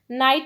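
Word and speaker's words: knight: नाइट में GH जो है ये साइलेंट है, इस पर सर्कल करेंगे।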